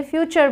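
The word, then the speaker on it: future: joke भी सुना होगा फुटूरेक्स लोग बनाते हैं बट फ्यूचर बोलते हैं ना एफ यू टी यू आर ए फूटूरे नहीं बोलेंगे फ्यूचर बोलेंगे तो टी यू आरई जब भी आए चर बोलना है आपको बस उसके आगे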